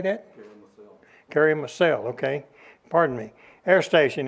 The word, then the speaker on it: Karamürsel: Karamürsel, okay.